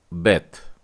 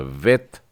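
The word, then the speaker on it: ב: तो ये है बेथ, जो वर्णाक्षरों में दूसरा अक्षर है और इसका बेस उच्चारण होता है ब। वैसे ही ये काफ है और इसका बेस उच्चारण होता है क। और उसी तरह से जो ये चिन्ह है ये है पे, तो इसका उच्चारण, बेस उच्चारण आएगा प। लेकिन अगर मैं इन डॉट्स को हटा देता हूं तो जो बेथ है वो हो जाता है वेथ, मतलब इसका बेस उच्चारण हो जाएगा व।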